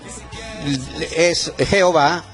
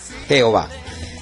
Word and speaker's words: Jehová: Entonces, esa combinación o esa mezcla o esa unión entre AE se pronuncia E. Por eso, por error, se pronunció y se empezó a pronunciar E, Y. La primera A se cambió por una E, Y o A. Por eso pasó al español como Jehová.